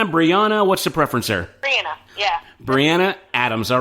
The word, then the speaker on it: Briana: Briana, yeah.